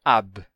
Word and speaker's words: ab: Por exemplo, a preposição ab, quando aparece antes de uma palavra com vogal, sempre se pronuncia ab. Sempre. Mas se a palavra seguinte começar com consoante, você pode não pronunciar o B, e aí você vai não pronunciar ab, mas simplesmente a.